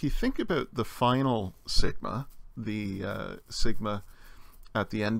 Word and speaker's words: sigma: Sigma or the other Sigma we saw at the end of a word the sound is still s as in snake and most keyboards use